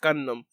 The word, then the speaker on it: Gundam: you pronounce it you it's gun and then a dam so condemn or gun